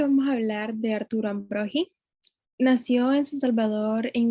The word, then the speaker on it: Ambrogi: a hablar de Arturo Ambrogi. Ojo con la pronunciación, no es Ambrogi, porque no tiene U, es Ambrogi, como si fuera el sonido de J.